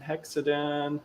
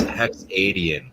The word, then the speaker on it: Hexadian: uptime, is Hexadon. Welcome to the show. Hey, and yeah, I gotta correct this or put it out phonetically or something. It's Hexadian because I'm a Canadian.